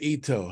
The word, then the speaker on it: Ito: I'm talking to Ito. How are you doing? Am I pronouncing your name right? Yes, you Ito. are. Yes, thank you so much. Yes, it's Okay. Ito.